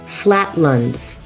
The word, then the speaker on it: Flatlands: Flatluns. It's spelled lands, but everyone says luns.